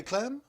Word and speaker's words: Klamm: Today we here right in the studio at Community Medias of the Foothill we have Klamm. Yes, hi. Did I say Klamm? No, you said it right.